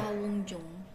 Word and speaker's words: 사원증: When you pronounce 사원증, just a little bit gets stronger.